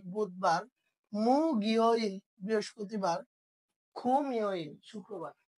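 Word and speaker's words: 목요일: তাহলে মু গিয় ইল কি উচ্চারণ হয়ে যাবে? মু গিয় ইল মানে বৃহস্পতিবার।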